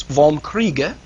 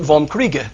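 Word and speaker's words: Vom Kriege: 1832 called on war or in German it's vom kreega karl was the chief of the Prussian General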